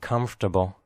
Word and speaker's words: comfortable: of the word comfortable pronounced as three syllables not four like this come Terkel